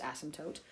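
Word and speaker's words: asymptote: toote we said that's another important thing it's pronounced ASM toote okay and an ASM toote is a boundary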